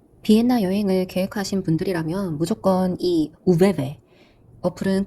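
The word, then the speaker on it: ÖBB: 여행을 계획하신 분들이라면 무조건이 우베베 어플은 꼭 다운받으셔야 됩니다 여기서 말하는 오 위에이 따옴표 두 개가 표시돼 있잖아 여기서 발음은 우루 하더라고요 베베가 아니라 우베베 이렇게 발음을 합니다 그래서 어플로 들어가 보시면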